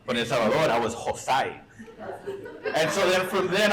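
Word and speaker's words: José: heard my name pronounced Hoozay, because I spell it Hoozay on social media. The joke is it's Jose, but in English, Jose. But in El Salvador, I was Hoozay.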